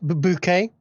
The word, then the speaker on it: Bucket: From Love Island to Hyacinth Bucket." Is that how that's named? Whatever. It's Hyacinth Bouquet. Bouquet, okay. It's a TV show. It's spelled Bucket.